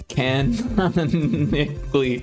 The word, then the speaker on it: canonically: keep saying kally there should be one less n in there it's not my fault can canonically canonically there we go canonically that's how you say it canonically well back in